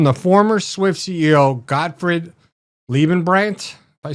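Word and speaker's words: Leibbrandt: It's from the former Swift CEO, Gottfried Liebenbrandt. If I said it right? Liebenbrandt, yeah.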